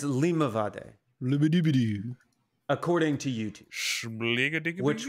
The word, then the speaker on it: Limavady: No, it's like a it's Limavady. Limavady. According to YouTube. Which will do better than I will do, for sure. Limavady.